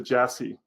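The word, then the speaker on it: Iași: You pronounce it Jassy.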